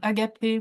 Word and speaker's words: Agape: Agape, we say. Agape, with an accent on the end.